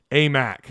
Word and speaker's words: Aimaq: because he didn't like the way i was pronouncing names so a mac ryan jones says it's a mac yeah uh